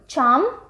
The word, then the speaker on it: छाम: जबरो, छाम, छम या छाम जैसे भी प्रोनाउंस किया जाए, शोंदोल, कई जगह पे इसको शोदोल भी बोला जाता है, SHOUDOL।